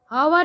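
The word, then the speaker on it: hour: We write our and university, but H is silent, H उसमें silent रहेगा।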